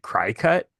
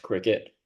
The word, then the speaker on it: Cricut: But regardless, I pronounced that way for like a solid year until I heard it was actually pronounced cricket, which makes sense, but I like my way better.